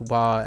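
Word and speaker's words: は: The hiragana is only pronounced wa as a topic marker. Otherwise, it's pronounced ha.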